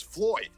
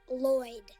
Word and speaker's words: Lloyd: No, my boss's name is Floyd. No. It's pronounced Lloyd.